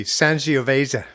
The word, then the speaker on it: Sangiovese: It's a soft G. Sangiovese. Sangiovese from our musical guest this evening, Bob Ardern.